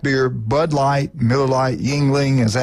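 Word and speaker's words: Yuengling: 50-cent wings, $5 draft beer, Bud Light, Miller Lite, Yingling, is that how you say it?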